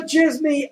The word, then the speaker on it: Djismie: You can follow Djismie at Djismie. That is ErikVandJismie, and the D is silent.